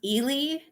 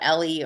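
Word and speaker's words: Ely: and it's like yeah i e y is pronounced Elie and a lot of them are like they they try to call it Ellie or El yeah it's just it's funny trying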